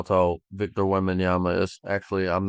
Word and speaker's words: Wembanyama: Then look up how tall Victor Wembanyama is. Actually, I'm not gonna hurt your brain by trying to spell that. Yemendawa?